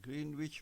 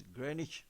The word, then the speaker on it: Greenwich: GMT + 8 Green Witch Meridian time. Pronounced as Greenwich Meridian time.